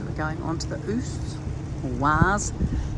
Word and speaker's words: Oise: Oise, that's how it's pronounced.